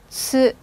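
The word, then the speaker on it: つ: 세 번째 글자도 마찬가지입니다. 스. 쌍지옷. 스. 스. 이렇게 읽어주세요. 자, 이 발음을 좀 오버해서 보통 분들 중에 어떤 분들은 쓰라고 발음하시는 분들도 좀 많으신데요. 솔직히 그렇게 들리기는 해요. 많이 그렇게 들리는데 너무 쓰, 쌍시옷 발음보다는요. 치읓음이 살짝 가미된 쓰, 쓰 이 발음이 좋으세요.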